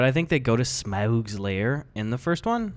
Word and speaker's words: Smaug: They're in like, I don't know how to pronounce it. Is it Smaug? Smaug, yeah.